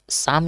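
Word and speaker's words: psalm: शाम है धुआधुआ ठीक है शाम है धुआधुआ गाना सुना है ना उसी पर है सम ऑफ लाइफ सम शाम यहां पे लिखा है तो शाम कैसे लिखेंगे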